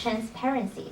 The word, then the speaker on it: transparency: I think Ning Hui is well prepared, but one mispronunciation at page 36, transparency. The stress is on the second syllable.